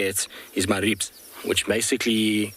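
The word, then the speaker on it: Maribye: to say it is maribs which basically is m a r i b s is how you pronounce it but it is spelt m a r i b y e so we now dub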